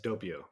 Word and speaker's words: Doppio: I believe Doppio Cafe. Is that am I pronouncing that right? Yes, Doppio.